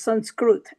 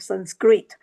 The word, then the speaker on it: Sanskrit: So in Sanskrit, so it is pronounced as Sanskrit and not anglicized version of Sanskrit.